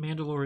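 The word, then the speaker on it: Mand'alor: n apostrophe d apostrophe-a-l-o-r like it's said like mandalore but it's spelled different because it's a title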